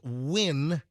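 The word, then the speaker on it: Nguyen: uh right and NG U ngu ye n pronounced win and we've all seen that name spelled but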